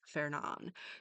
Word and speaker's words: Fernand: So, according to Google, uh, the English pronunciation will be fair. So, it would be fair. Um, so we don't start it with fur. So it's Fernon.